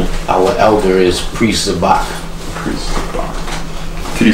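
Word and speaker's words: Zabach: And our elder is Priest Zabak. Priest Zabak. Can you spell that?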